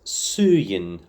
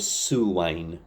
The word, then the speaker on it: suain: So, I pronounced suain as suin under under the bridge which I think is legitimate possibly. because there are a few pronunciations of the word depending on the region but I think we today we'll go with suane because that seems to be the more common one on recordings also